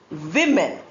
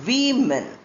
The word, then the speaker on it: women: The singular is woman and the plural is women. Men, M-E-N, pronounced the same, but spelling is M-A-N, M-E-N. Whereas W-O spelling does not change at all, but pronunciation changes. Woman for singular and women for plural.